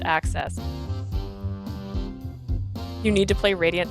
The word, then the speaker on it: Aksys: but they are not made by Aki access access I got to write that down pronounced access you need to play